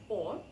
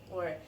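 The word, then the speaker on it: о: after this preposition about in Russian is O but we pronounce it as a because this in un stress position um all the prepositions in Russian they are not individual separated words they go together with the following word so normally they do not have very strong stress on them that's why due to Russian reduction or this preposition we pronounce like a and after this preposition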